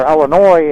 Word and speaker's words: Illinois: Or Illinois, actually, is how you say it. I just heard so many people say it the other way.